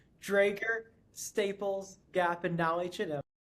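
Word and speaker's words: Dräger: across several different companies and industries, including Novartis, Dra Draasier, Staples, Drager, Drager. I literally looked up before we did this how to say it and I still got it wrong. Drager, Staples, Gap, and now H&M.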